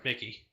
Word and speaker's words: Mickey: Is it Mick or Mickey? Mickey. Mickey. Okay, I thought it was Mick.